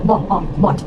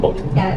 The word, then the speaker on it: bought: Alright, it's bought. Bought. Right. Not bought. There's no like, I heard a little bit of W sound, or W. Okay.